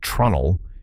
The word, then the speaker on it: treenail: The second method is treenails and honestly, this is the one that changed my thinking the most. A treenail, sometimes pronounced trunnel, is simply a wooden peg used as a fastener.